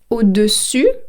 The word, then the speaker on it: au-dessus: à l'envers, upside down, au-dessus, means on the top, en dessous, underneath. Phonetically, I know it's very tricky, so I'm going to say it again. Au-dessus, so I end with the letter U, au-dessus means on the top,